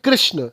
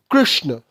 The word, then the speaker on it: कृष्ण: में भी नहीं है यह जो वर्ड है इसका हिंदी में उच्चारण होता है कृष्ण क्योंकि यह जो मात्रा है इसका हिंदी में हम प्रोनंसिएशन करते हैं री से इसी वर्ड को अगर हम संस्कृत में बोले तो इसका उच्चारण हो जाएगा कृष्ण यानी संस्कृत में इस मात्रा का उच्चारण ना तो री है और ना ही रूह है it's some where in between तो यहां पे प्रॉब्लम